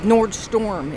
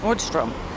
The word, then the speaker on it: Nordstrom: the line the nordstrom some people think it's like nordstorm it isn't like a storm like a snow or rainstorm thunder lightning no nordstrom strom look how it's spelled what's drum rack i